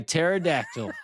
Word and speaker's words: pterodactyl: I'm like a pterodactyl. The P is silent.